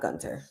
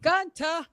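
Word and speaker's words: Gunther: It's not Gunter. This is how you say it. I think we all can agree. Gunter, the ring general Gunter.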